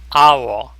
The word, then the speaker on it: hour: 예를 들어서 hour. h의 발음이 없죠.